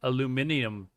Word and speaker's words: aluminium: So, um aluminum is actually called aluminium now.